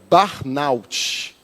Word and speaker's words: burnout: Você jogar lá no Google, o Google sempre nos ensina a pronúncia, então seria barnout, tá?